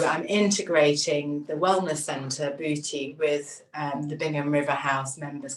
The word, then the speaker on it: bhuti: I am a yoga teacher and yoga therapy for about 20 years and I started a centre called bhuti, which is spelt not beauty but bhuti, b-h-u-t-i which is